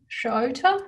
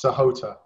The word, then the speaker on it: Sahota: And next we've got Shota. Is that how I pronounce it? Close, Sahota. Sahota, apologies.